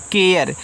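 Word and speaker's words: care: ई इसको पढ़ते हैं केयर देखो ए आर ई को आप एयर पढ़ा करो ट्रिक के साथ ना एयर पढ़ा करो किसी के बाद ए आर ई लगा हो तो एयर पढ़ना अब देखो ए आर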